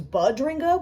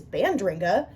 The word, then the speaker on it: Bandringa: I used to think it was Budringa without the first N, but it is Bandringa, and that was a humbling realization.